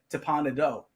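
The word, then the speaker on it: Teppan Edo: how do you pronounce it John I say teppanito because some people say I used to say that too and then someone told someone corrected me one time in Disney they're like no it's tapana doe so I said oh okay so I sort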